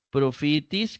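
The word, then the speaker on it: προφήτης: otra masculina que es profitis que sería Pro fitis tildado en la penúltima sílaba eso nada más observación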